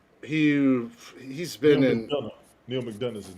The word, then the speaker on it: McDonough: your name again neil mcdonald mcdonald neil mcdonald it's spelled different it's not mcdonald but uh but he